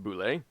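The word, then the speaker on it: bulette: called a land shark the boule pronounced boule is a terrifying predator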